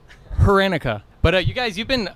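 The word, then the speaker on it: Hranica: Yeah, Rancia sometimes, which makes it like CIA when it's ICA. Rancia. Silent H, right? No. Silent no, H. It's not. Heranica.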